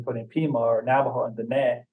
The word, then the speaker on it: Diné: Pima, or Navajo and Diné, keeping in mind the accent on the E usually gets dropped. So you're looking at Diné and the Dine.